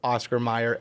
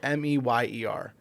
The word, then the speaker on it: Oscar Mayer: I'm when I spell it and when I say it, I'm still going to say Oscar Mayer, Meyer. It is actually spelled Mayer.